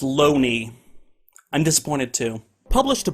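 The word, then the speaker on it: Looney: same here in 1920 J Thomas Loney his name is pronounced Lough Neagh I'm disappointed to published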